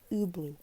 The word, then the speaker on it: Ubloo: the to that word I'm sorry what's yubo pronounced blue okay I asked curiosity hubloo okay interesting word and your side ooh blue